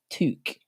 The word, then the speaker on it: toque: It's pronounced toque.